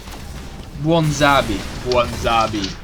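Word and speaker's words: Bwonsamdi: And his particular patron Loa is Kwanzabi, of how do you pronounce that? Bwanzabi. Bwanzabi is the Loa of the dead.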